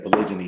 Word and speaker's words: polygyny: So when you say polygyny, sometimes people say, "Oh, you're saying it wrong," or "you're misspelling it."